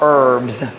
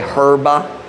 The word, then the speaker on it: herb: is a dinner of herbs or sometimes Filipinos say herba in English the H is silent h herb better is